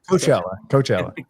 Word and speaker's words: Coachella: No, not what I'm pronouncing that wrong. Coachella.